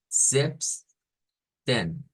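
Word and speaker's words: siebzehn: principio Mateo y luego vamos a decir el 17 como zip zips ten zips que se noten esas esas zas así como zumbadas que no son zas del español cabe decir porque en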